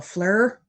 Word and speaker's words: FLIR: uh temperature control what is that called a fleur am i saying it right flir yeah i